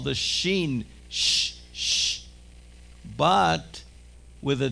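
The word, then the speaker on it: שין: With a dot on your right, it is pronounced sh, sh. It's called the sheen, sh, sh.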